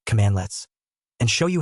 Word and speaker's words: cmdlet: We're going to dive into the core philosophy behind PowerShell's comlets, pronounced commandlets, and show you how this verb noun pattern is the key to unlocking the entire PowerShell ecosystem.